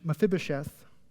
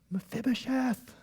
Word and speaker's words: Mephibosheth: And Mephibosheth, the son of Jonathan, son of Saul, came to David and fell on his face and paid homage. And David said, check this out. Notice the exclamation point. Mephibosheth.